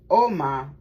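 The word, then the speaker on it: Ogma: Agma, pronounced Oma. Oh, okay, it's Oma.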